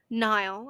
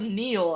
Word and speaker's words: Niall: It's just like, I thought it was Neil, and then it's like, no, it's pronounced Niall.